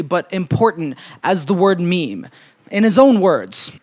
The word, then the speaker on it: meme: important as the word meme. In his own words, it should be pronounced to rhyme with cream.